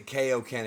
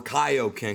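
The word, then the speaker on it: Kaiō-ken: when they've already given the proper pronunciation for Kaio Ken because it is Kaio Ken from Kyo Sama it's weird to hear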